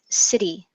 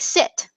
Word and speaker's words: city: native language of Portuguese the e sound at the end of a word often gets dropped and so we I want to suggest that we work on pronouncing city because it it often um when my Portuguese students are sorry my Brazilian sorry my Brazilian students say that um they actually make it sound like sit and as you know